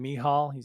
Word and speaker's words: Michal: I believe he pronounces his name Michal.